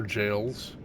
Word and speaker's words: Gaol: gaale that's just the old English spelling of jail and that's how it's pronounced is jail G AOL L what's really funny is when I go to upload videos and mention the ever jails um my PS5 or whoever it is along